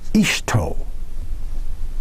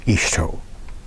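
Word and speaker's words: hito: The word for man in Japan, a common word, is ishto. Quote, ishto. But it's spelled H-I-T-O. They don't say the H.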